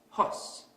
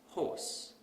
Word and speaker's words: horse: We also tend to ignore certain sounds. So we might pronounce this word as hos instead of horse.